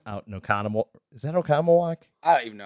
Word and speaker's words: Oconomowoc: Is that Oconomowoc? I don't even know how you say it, dude. Yeah. Oconomowoc.